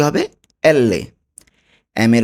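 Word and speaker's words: elle: এলকে বলবো এল্লে। এল্লে। এল এর উচ্চারণ কি হবে? এল্লে।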